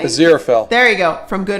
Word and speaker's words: Aziraphale: Oh, Dalton says, I'm currently drawing Bowie as, okay, I can never pronounce this, Aziraphale? Aziraphale.